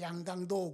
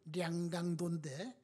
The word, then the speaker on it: 양강도: 북한의 양강도 그러면은 북한식 발음으로는 량강도인데 지금은 많이 알아요.